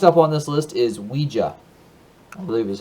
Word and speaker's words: Ouija: Next up on this list is Ouija, I believe is how it's pronounced.